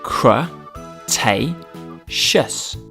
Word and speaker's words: Cretaceous: years ago in the late cretaceous period cro tay schuss triceratops means three horned face it had